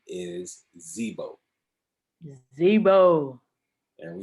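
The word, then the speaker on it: Dzbo: name is Zebo, Zebo. and we spell it Okay. DZ-BO. The D is silent.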